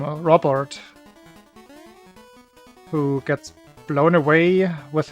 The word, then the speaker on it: Robert: Because in German you wouldn't pronounce it Robert, it would be Robert.